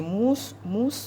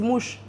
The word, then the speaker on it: mousse: Par exemple, quand on dit mousse, Ils disent mouche. mouche au chocolat.